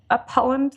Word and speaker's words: Upholland: As they say, you were born in Upholland, Lancashire. Am I pronouncing it properly?